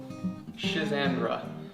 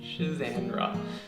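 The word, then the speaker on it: Schisandra: The next one we're going to be working on here, now if I can pronounce it correctly, is Shenandra. Let's try that again. Shizandra.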